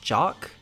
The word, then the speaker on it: Joke: man named sir jock spelled joke but pronounced jock Amazon reviews tell me